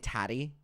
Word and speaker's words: Tati: killed my vibe Adam it rhymes with fatty okay you're just all